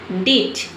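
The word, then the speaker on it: ditch: अब देखिए डीच में जो टी लेटर है इसे हम प्रोनाउंस नहीं करते हैं। किसी भी वर्ड में टी सी एच अगर एक साथ आता है तो वहां पे हम टी को प्रोनाउंस नहीं करते हैं। टी लेटर साइलेंट रहता है।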